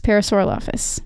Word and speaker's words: Parasaurolophus: Parasaurolophus.